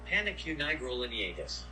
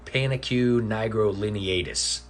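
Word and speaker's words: Panaque nigrolineatus: Pronounce it. Panicue nigrolineatus. It's not necessarily hard to pronounce. It's a very long Latin name. Panicue nigrolineatus.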